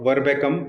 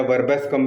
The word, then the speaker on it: Verbascum: अगली medicine facial neuralgia की ही है और ये है वर्बेकम या वर्बेस्कम भी, दो तरीके से प्रोनाउंस कर सकते हैं, VERBASCUM।